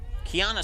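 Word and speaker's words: Quiahna: Kiana spelled Q-U-I-A-H-N-A. And it's just like a set of keys. That's how you say it.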